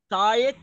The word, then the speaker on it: sight: hearing، sight، اللي قلنا الجي اتش ما بتنطقش، sight، taste، smell، ميل touch.